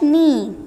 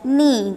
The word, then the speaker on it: knee: The next word is dash knee, dash knee. K is silent.